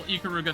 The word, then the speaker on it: Ikaruga: know of karuga also real ikaruga fans would be smacking me because it's pronounced ikaruga but uh Doon ponchi